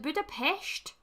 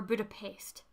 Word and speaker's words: Budapest: Is it Budapest or Budapest? That's gonna bug me now. I always thought it was shh noise. Hold on. Let's see. Budapest. Okay, well apparently I've been saying it wrong.